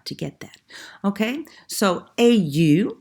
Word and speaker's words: au: Okay, so AU, which is pronounced au plus a masculine place, au café, au restaurant, au parc.